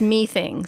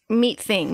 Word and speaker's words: Meething: communications in its browser it doesn't make sense that it's me thing so meat thing makes more sense so I mispronounced it so I'm gonna double